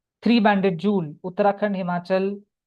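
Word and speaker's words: jewel: इसके लिए इसको बोलते हैं थ्री बैंडेड जूल। स्पेलिंग है ज्वेल। लेकिन उसका जो प्रोनाउंसिएशन है वह जूल है।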